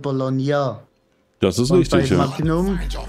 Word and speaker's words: Bologna: Aber bei den Italienern wird auch das GN anders ausgesprochen. Die sagen ja nicht Bologna, sondern Bologna.